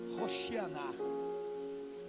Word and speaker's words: Hosana: o povo vai dizendo: Hosana. Na verdade, a pronúncia correta é Hoshianá.